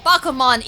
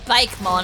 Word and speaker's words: Bakemon: I feel like there should be an accent on the E. So you don't pronounce it Bakemon, I don't think. Bakemon doesn't sound right. Bakemon should be a cake. I think it's Bakumon.